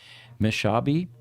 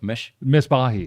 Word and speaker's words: Misbahi: Next week, we will have Farzad Meshabi with us. Did I pronounce that right? Yes, Okay, thank you. I believe so. No, Misbahi. Misbahi. Okay. Misbahi. Farzad, I'm going to apologize